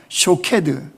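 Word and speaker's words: שֹׁקֵד: 그런데 이 지킨다라고는 히브리 단어는요 쇼케드 이런 뜻이에요. 샤케드, 쇼케드. 그러니까 이게 발음이 비슷한 거죠.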